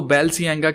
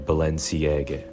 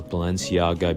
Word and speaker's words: Balenciaga: Clip के अंदर ये बताया है कि इसको प्रोनाउंस कैसे करना है। लोग इसको बैलसियांगा कहते हैं, कोई बालशियांगा करके बोलते हैं, लेकिन उसने इसकी सही जो